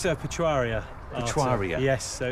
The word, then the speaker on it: Etruria: club first of all tell me how you pronounce it it's patois RIA etruria yes so it's named after the the Roman